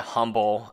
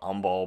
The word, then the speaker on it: Humble: I call it Humble. I know the H is silent and it's called Humble, but whatever.